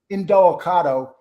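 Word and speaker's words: Indelicato: how do you say his last name again angelicado in Delicato is the one that vouched for him and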